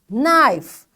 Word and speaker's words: knife: Knife. Again this K is silent because after K you can find N is over there.